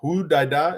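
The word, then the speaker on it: Hodeidah: Fadel says, Hudaida. Hudaida is the appropriate pronunciation of that Yemeni port.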